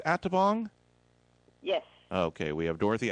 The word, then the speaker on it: Atabong: Listen, folks, we have on the phone with us, is it pronounced Atabong? Yes. Okay, we have Dorothy Atabong.